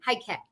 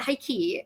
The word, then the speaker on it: Heike: It's not high key.